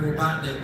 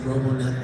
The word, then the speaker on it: Robotnik: Okay, so every day I'm like trying to pronounce Dr. Robotnik, and yes, I said Robonet on camera, leave me alone.